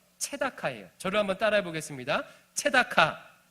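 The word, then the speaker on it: צדקה: 체다카.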